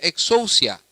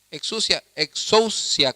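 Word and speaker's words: ἐξουσία: Y esto es muy curioso, hermanos, porque la palabra autoridad en el idioma griego se pronuncia exousia. Exousia con X, exousia, y es en el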